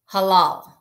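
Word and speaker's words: הלל: So the Hebrew word for praise, halal. Halal. I wrote it out there phonetically for you too, because hey, if these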